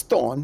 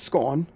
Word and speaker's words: Thorn: Just pronounce Thorn, not Scorn.